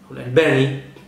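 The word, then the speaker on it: الألباني: الشيخ ناصر الدين الالباني الالباني كما ينطقه البعض وهو على ما يبدو هو الاصح النطق يقول واحد عاش عايش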